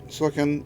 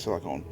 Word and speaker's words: silicon: Sony does graphite silicone silicon and I always say want to say silicone uh I have been calling it silicone for years and I just thought it's a bad habit so I probably keep saying it wrong um and they got